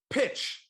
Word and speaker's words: pitch: I appreciate the support, but it's pronounced pitch. You're supposed to say nice pitch.